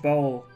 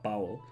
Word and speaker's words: bowl: whisk and the huge bowl. I keep messing up that pronunciation. Bowl, not bowel. It's something else entirely.